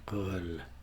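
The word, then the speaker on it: Röhl: Now drop half the R. How to drop half a letter? Can't even pronounce my R's anyway, never mind half of one. Once you have dropped half the R, it should give the EARL or UL more of a guttural sound. Danny Real.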